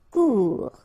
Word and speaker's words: court: Final T not pronounced. Court. Remember, when you combine this O and U together, you get the sound OU.